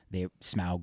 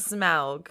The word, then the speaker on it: Smaug: Smaug? How do you know it's Smaug? Because Tolkien has whole appendices on how to pronounce things. It's a diphthong. Yeah, Ow. Ow.